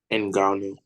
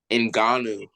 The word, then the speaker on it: Ngannou: You know how to pronounce his last name? Ngannou. Who? Ngannou.